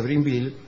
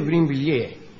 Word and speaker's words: Brinvilliers: María Magdalena d'Auvray, más tarde marquesa de Brinville, nació, es de Brinvilliers.